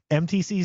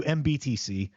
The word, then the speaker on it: MTC: And I will do my best not to call you MBTC, but to call you MTC.